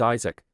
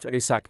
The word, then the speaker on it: Isaac: irritated he reminded them my name is Isaac not ISAC as you keep saying but it seemed these